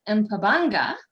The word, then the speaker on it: Mpabanga: And how fitting to have Mpabanga. I think I pronounced that fairly okay. Yeah, you got it.